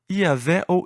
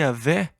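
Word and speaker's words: Yahweh: quais eram as vogais o Consenso geral é que o nome seria pronunciado eavel e mas em algum momento surgiu a pronúncia Jeová ou e a ver que se tornou mais popular mas e aveh ou e talvez seja a pronúncia correta embora não tenhamos certeza este é o nome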